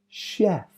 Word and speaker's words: chef: origin normally sounds sh Chef champagne broch sure c h from French origin normally sounds sh Chef champagne brochure please